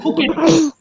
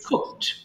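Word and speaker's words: cooked: করা কুক কুকড কুকড এটা আবার অনেকে ভুল করে কি বলে জানো কুকেট এটা কিন্তু কুকেট বলবো না এটা সিম্পলি কুকড আচ্ছা সবাই একটু ফোনের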